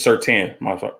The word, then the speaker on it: Surtain: Patrick Surtain It's Surtain. Patrick Surtain II and J.C.